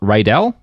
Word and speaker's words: Rydell: So there's actually a fun quote from Jim's current business partner, a guy named Tom Rydell. Am I pronouncing it right?